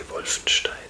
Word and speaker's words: Wolfenstein: Uh yeah, I don't know if it's called like this in English too or if you if you pronounce it different differently like Wolfensteinstein or something, but we say Wolfenstein. So that's a German word in my opinion. So I'm allowed to pronounce it German.